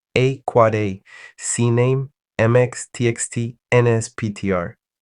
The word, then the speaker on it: AAAA: AAAA, pronounced quad A, maps a name to an IP version 6 address.